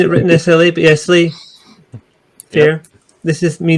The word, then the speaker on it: SLA: I've seen it written SLA, but yeah, Slay. Fair. Yep. This is me not knowing anything about it. They dropped the Y for some reason.